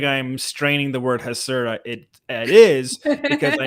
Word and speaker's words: Hasura: i'm straining the word hasera it it is because i am retraining my brain to say it properly because it is not hazura it is hasera uh so that's why